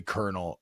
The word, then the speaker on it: colonel: the roads side note how is corn kernel and the word military Colonel pronounced the same absolutely